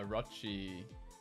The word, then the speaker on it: Orochi: Orochi.